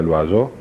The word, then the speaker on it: Loiseau: Me llamo Loiseau, bien pronunciado sería Loiseau, que en francés quiere decir el pájaro, si no hubiera perdido por ahí el apóstrofe, ¿no?